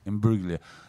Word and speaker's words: Imbruglia: Imbruglia.